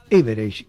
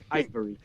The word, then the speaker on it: Ivereigh: que se llama Austen Average. Creo que pronuncio bien tu apellido, ¿verdad? No tanto, ¿eh? ¿Cómo sería? Ivory. Que es muy equivalente bien. En español sería marfil.